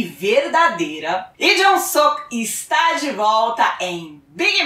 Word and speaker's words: Lee Jong-suk: Sim, Lee Jong-suk é a pronúncia certa, mas a gente aqui na Dramalândia brasileira gosta mesmo é de chamá-lo de Suquinho, pra mostrar aquela intimidade.